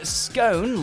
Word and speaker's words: scone: or is it scone you'll generally find scone like tone in use in u.s english but if you were